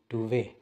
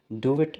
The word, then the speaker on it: duvet: टी यूवी ई टी इसके spelling के एंड प टी आता है लेकिन उसको टी को प्रोनाउंस नहीं किया जाता है तो हमने इसको ड वे ही बोलना है स्पेलिंग प एंड प टी की वजह से डू इट नहीं बोलना डु वे रजाई को